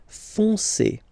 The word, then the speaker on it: foncé: Okay, but then O-N, remember, nasal, on, foncé, foncé, gris foncé, gris foncé, okay?